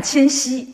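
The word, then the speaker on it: 千玺: 础的哈，玉玺的玺啊，你都念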